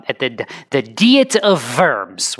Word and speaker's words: Diet: U at the the deet of worms which in English is spelled diet of worms but it's it's German again it doesn't make any